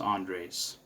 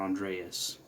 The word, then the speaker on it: Andres: know, my name is Andres. Actually I go by Andres or Andreas. The reason why my name is technically Andres, but many people can't pronounce that because it's a Mexican name.